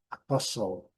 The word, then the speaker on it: apostle: Mas um grande segredo aqui é não pronunciar o T. Não existe T aqui na discussão.